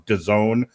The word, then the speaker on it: DAZN: in a few minutes on DAZN, which rhymes with calzone.